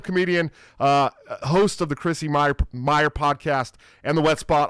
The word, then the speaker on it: Mayr: and it's Mayr, but like these are just small details. Do I always do the last name wrong on you? Is that what I? It's okay. Mayr, I could have right? told you in advance. Mayr. Yeah, like John Mayr.